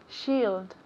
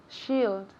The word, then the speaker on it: shield: shield perfect repeat again shield great great pronunciation here shield shield so we have ele bay so let me hear the ld alfinale remember i'm very picky with pronunciation and with the endings la terrinaciones shield shield